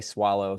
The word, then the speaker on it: Soileau: on Facebook at swallow so it's j a y my last name is spelled s o i l e auau I'm from Louisiana so it's cjun French looks nothing like it sounds but swallow on